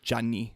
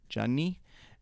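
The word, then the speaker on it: Gianni: his real name yeah like johnny spelled like g in italian yeah yeah yeah gia nni johnny uh russo and he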